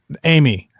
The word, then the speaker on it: Aimee: Amy, spelled with a fucking I.